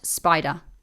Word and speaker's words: SPDR: And then you've got Spider, SPDR. I like to put Spider in brackets just to remind me how to say it.